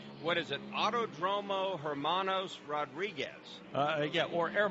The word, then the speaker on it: Hermanos: is it autod dromo Hermanos Rodriguez uh yeah or a monos as they would say the H is silent in Spanish and I struggle with